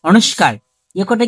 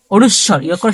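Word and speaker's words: অনুস্বার: খন্ডত এটা কি খন্ডত অক্ষ বলি আমরা কি অনুস্কারটা কি অনুস্কারটা শুদ্ধ উচ্চারণ কি হচ্ছে অনুস্বর শুদ্ধ উচ্চারণ অনুসর আরটা আমরা বলি বিসর্গ বিসর্গ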